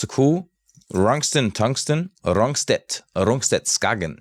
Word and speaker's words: Skagen: I mean, it's a cool Rungsten, Tungsten, Rungstedt, Skagen. You actually say Skagen. Pronounce it like right in Danish, Skagen.